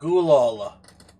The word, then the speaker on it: Gulaal: How do you spell that? Gulal.